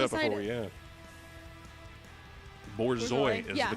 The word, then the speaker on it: Borzoi: Borzoi is Yeah, the correct yeah.